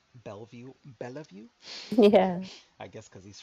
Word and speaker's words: Bellevue: video Rashad called Bellevue Bellevue yeah I guess because he's from the south and not from New York he doesn't realize you don't pronounce that second e in it this is what